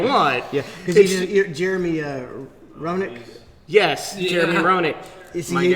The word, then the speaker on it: Roenick: Roenick.